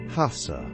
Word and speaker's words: casa: The hard gara U sound, as in casa, house, is often aspirated, coming out as a soft, breathy H sound, almost like hassa.